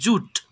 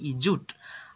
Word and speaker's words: jute: দেখো এখানে আমি তোমাদের একটা কথা বলতে চাই, জুয়েট বানানটা কিন্তু একই, আমরা অনেকে বলি জুয়েট, আসলে কিন্তু এর উচ্চারণ জুয়েট না, এটা কিন্তু জুট, JUTE, জুট।